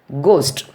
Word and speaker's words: ghost: Then GH, ghost. Ghost. Simply we are saying ghost, but spelling is GHOST.